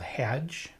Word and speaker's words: Hadj: Um, the story is titled Hedge. I think I'm pronounc pronouncing that right. H A DJ. How can you get it wrong?